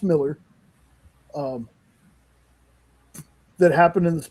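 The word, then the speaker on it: Millar: book, man, that it's Mark Malar Miller. Miller, I'm sorry. It's actually pronounced Miller.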